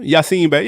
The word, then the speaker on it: Yasiin Bey: Yasiin Bey.